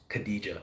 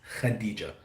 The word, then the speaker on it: Khadija: So there's a kh, that's almost like kind of you getting ready to spit. I'm not gonna say on someone, but that's how you officially correctly pronounce Khadija. It's Khadija.